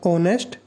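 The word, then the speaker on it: honest: एच आ रहा है, consonant है। लेकिन साउंड किसका आ रहा है? वोवेल का। क्योंकि आप इसको एच तो आपके पास ये लगा लो आप साइलेंट साइलेंट ही होता है। इसको आप ऑनेस्ट बोलते हो।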